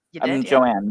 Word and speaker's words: Joanne: Joanne, not Joanna. Joanne, yeah.